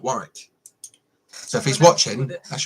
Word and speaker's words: Warwick: And we only found I'm blaming Dan Jones for that from Great British Castles documentary, because he calls it Warwick, not Warwick.